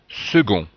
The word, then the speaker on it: second: aussi second et attention la prononciation du C qui se prononce gu second 3e donc vous voyez